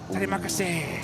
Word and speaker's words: Terima kasih: Oh, is it Terima kasih, right? That's it.